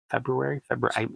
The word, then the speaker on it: February: I always want to say February, and then my brain goes, there's an R. Like, yeah, I said it's at the end. Airy. No, the other R.